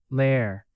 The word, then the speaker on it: leer: Yes, leer is also an ER verb, although it has an extra vowel sound when you say it. Leer.